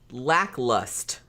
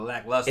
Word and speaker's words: lackluster: He says lacklust. Instead of lackluster. Instead of lackluster. Yeah. I'm like, lackluster is not a word. There's another syllable that you might want to add on to that.